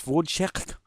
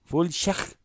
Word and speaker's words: Wojciech: Wojciech No, it's Wojciech. Wojciech. It's got a k at the end.